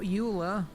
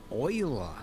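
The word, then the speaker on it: Euler: Uh we need to add shift a utilities rotation rotate not uler oiler. Yes, I know they went with the weird pronunciation.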